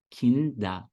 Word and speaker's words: Kinder: Termina com ER, mas o final tem som de A. Kinder. Kinder.